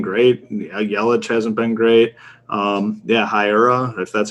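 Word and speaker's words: Hiura: Hira, if that's how you pronounce his name. Hira.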